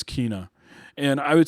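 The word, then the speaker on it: Kena: And so it's like Tina with the K, Kina. Okay. I heard other people in the game reference her, or I think she might have even said her name, and it's Kina.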